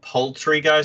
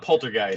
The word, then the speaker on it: Poultrygeist: favorite movies, and then Poultrygeist and like kind of the Killer Tomatoes. Wait, is it called Poultrygeist? Yeah, or not Poltergeist. Not Poltergeist, it's Poultry because it's based in a chicken shop.